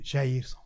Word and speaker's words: Jairson: Look, it's simple. Jairson. You know.